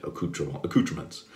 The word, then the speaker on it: accoutrements: That's right, accoutrements. That's how we say it in the U.S. We mispronounce everything because, you know, that's the way we are.